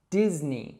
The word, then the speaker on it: Disney: It's Disney. So it's not Disney or Disney or something like that. It's actually just Disney, so that short I sound that we heard earlier.